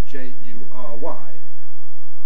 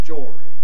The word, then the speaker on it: jury: it rhyme with story, jory, which is one possibility. Then I said, does it rhyme with furry, furry animals, animals with fur, so jury. Or does it rhyme with neither of those?